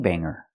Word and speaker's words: banger: not banger but Banger no hard G sound I know this is